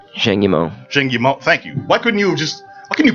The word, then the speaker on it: Zhang Yimou: I can't pronounce it, so I'm gonna go phonetically. Excuse me, I'm just a regular guy. It's Zhang Yimou. Zhang Yimou.